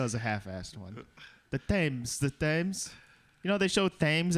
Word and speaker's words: Thames: Thames. Well, why'd they put the H in there?